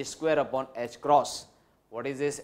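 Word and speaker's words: ħ: E square upon h cross. This is new symbol for you, it is to be pronounced as h cross or h cut, h cross or h cut.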